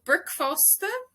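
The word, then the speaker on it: bricfeasta: do a breakdown of the nouns first just pronunciation and what they mean before we get onto the phrases so brick Foster brick Foster is breakfast or birvalia Ober Valia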